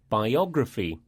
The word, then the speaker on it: biography: Words that end in the letters P-H-Y, pronounced phy, usually have this stress pattern, like biography and photography.